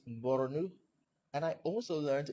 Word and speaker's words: Borno: I learned that it's not Bonu, it's Borno, and I also learned it's not Maiduguri, it's Maiduguri.